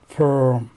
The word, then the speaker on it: firm: Ну, и мы сразу узнаем по написанию слово фирма, но читается совсем не фирма, а читается таким странным произношением firm.